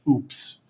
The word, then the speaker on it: UPS: use ups in mexico ups in mexico i am not kidding you is pronounced oops so when you say